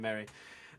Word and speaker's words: Marie: So, yeah, it is it is Paul Mary for fans out there um who call him Marie. You can still call him Marie, but that's that's how he pronounces his last name, Mary.